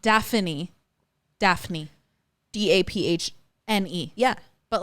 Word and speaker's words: Daphne: Daphne. But not Daphne.